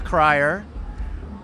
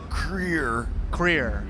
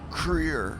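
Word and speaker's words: Krier: First off, because they do get this wrong sometimes, full name Andrew Federley Wilkes Cryer. Yes, that is correct. It's pronounced Creer. Wilkes Creer.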